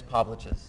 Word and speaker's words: Povliches: And Miss Povliches. Yes, thank you. It rhymes with sandwiches, you said.